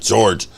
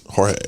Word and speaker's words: Jorge: I mean, no, it's not George. Oh, God, I can't remember it. Jorge? Is that how it's pronounced? Jorge, okay.